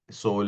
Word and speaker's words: sole: So, we don't say sole. Now, English would have pronounced that word as sole, right? The English instinct of saying we say S U S O L E, we say sole. But, we say every alphabet. Sole.